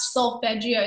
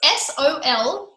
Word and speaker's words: solfeggio: But I actually cannot sleep anymore without solfeggio sounding in the background.